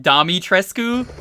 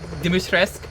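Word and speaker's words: Dimitrescu: good when i heard her name was actually pronounced domi tresku and not demustress like i thought it was that blew my mind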